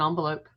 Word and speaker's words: envelope: Like envelope and onvelope.